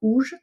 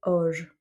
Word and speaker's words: hoje: mais en tout cas, la prononciation comme je l'entends est plus un O ouvert qu'un O fermé. Je sais juste aussi que c'est pas un OU, c'est pas ouge, c'est pas auge, c'est hoje.